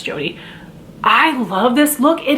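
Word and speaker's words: Jode: shimmery steely blue jody i think it's spelled j-o-d-e i would say that's jody i love this look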